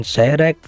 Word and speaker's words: Zyrex: Yang membedakan di sini logonya dari Zeyrek atau bacanya Zeyrek.